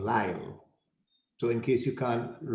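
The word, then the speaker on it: Lisle: called by my name lyle so in case you can't you know figure out how l-i-s-l-e is pronounced it's live like l-y-l-e and my wonderful assistant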